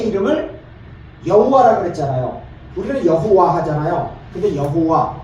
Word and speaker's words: 여호와: 우리는 여호와 하잖아요. 근데 여호와 정확하게 말해서 여호와는 예 독일식 발음입니다.